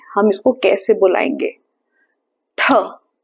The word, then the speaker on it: ठ: ठ ठ। हम अपनी जुबान को पीछे ले जाएंगे। ऊपर टच करेंगे और फिर फोर्स के साथ बोलेंगे।